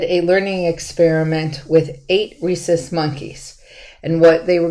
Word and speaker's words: rhesus: okay let me uh he he did work with rhesus monkeys reese's is spelled r-h-e-u-s so it's not like the candy so there's a little